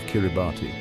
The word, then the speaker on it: Kiribati: The pronunciation with the S sound for T became an integral part of their new identity, a linguistic marker that distinguished their own name from its English origin.